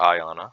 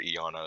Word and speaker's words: Iana: orex in b next we have iana some people call her ayanna i'm pretty sure eona is the right way to say it she has a very